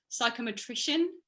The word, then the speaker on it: psychometrician: Psychometrician, is that right? Is that how you say it? Yeah. In South Africa they say psychometrist, I think, but psychometrician. Yeah, I like it.